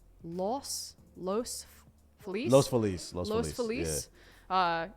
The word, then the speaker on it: Los Feliz: in uh i will say it correctly los los feliz los feliz los police uh it's a really